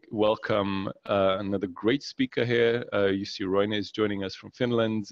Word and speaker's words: Jussi Roine: You pronounced my name exactly correctly, and you're probably the only person outside Finland who can do that now. So, good afternoon, good evening, everyone. My name is Jussi Roine.